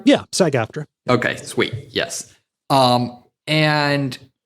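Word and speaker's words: SAG-AFTRA: ask uh Saga uh first off am I pronouncing that right? Yeah. Sag afterra.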